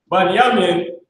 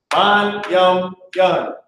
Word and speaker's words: Bunyamin: Anyway, Bunyamin is how you say Benjamin, which is the so-called West Indies, all right? Ban-yum-yun. You got the ba, the na, the ya, ma, and the ya, and the na. It is all connected.